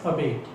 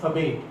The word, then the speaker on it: abate: Now in Indian accent we use this word as abate. In USA also we speak it as abate, but in UK we pronounce it as abate.